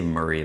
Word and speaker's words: Maury: If you if you look at it from somewhere else, you're probably going to say Ma- Maury or you're going to make it weird, but we say Maury like like it's not how it's spelled.